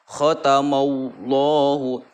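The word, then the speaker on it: ختم الله: domah atau berharokat fathah, ini dibaca tafhim. Jadi tafhim itu adalah menebalkan bunyi huruf ya, ketika diucapkan maka penuhlah mulut dengan gemaknya huruf. Khatamallahu, khatamallahu. Nah, jadi mulutnya itu penuh ya dan oleh gemanya huruf. Oke, seperti itu cara membaca tafhim.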